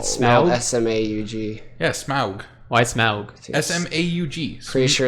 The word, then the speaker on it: Smaug: Smog. Smog, or- yeah. Okay. Smog is I thought it was bad. Smaug. I like I it. think it's Smog. Smaug. It's spelled Smaug? S-M-A-U-G. Yeah, Smaug.